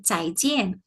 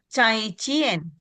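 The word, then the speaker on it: 再见: Nah, I dia dibaca yien jadi cai cien. Oh, cai cien.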